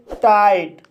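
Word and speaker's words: tight: जैसे टाइट, टाइट शब्द में IGH आया है, इसलिए GH साइलेंट रहेगा और I का उच्चारण I होगा, इसलिए इसे टाइट पढ़ा जाता है।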